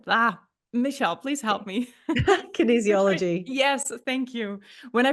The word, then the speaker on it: kinesiology: kin oh I'm not sure if I can pronounce this kin kin ah Michelle please help me Kinesiology yes thank you when I practiced this bio